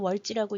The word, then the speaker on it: 월지: 월시라고 쓰긴 하지만 월시라고 쓰고 월지라고 읽습니다.